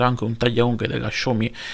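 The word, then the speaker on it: Xiaomi: da voluto pronunciare voi si dovrebbe pronunciare schumi quindi dovrei averlo pronunciato correttamente questa volta la prima volta che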